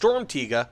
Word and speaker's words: Sturmtiger: comments tell me that I'm correct, it is pronounced Sturmtiger.